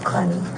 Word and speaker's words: Clenney: How do you pronounce it? Clenny.